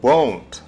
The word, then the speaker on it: won't: сократить will not к won't. Won't, сделать маленькое слово won't. Will not сокращается к одному слову won't. Won't, не забывайте правильно произносить, это звук O.